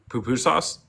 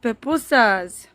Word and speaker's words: pupusas: Sir, that's not how you're supposed to pronounce that. What? Poo-poo sauce? Yes, pupusas. Pupusas. Sorry, Yeah.